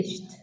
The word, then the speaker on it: finished: Okay, finished. Thank you. Yes. So, the second one is finished. And can you hear Fuzzia? She puts that t sound at the end. Finished.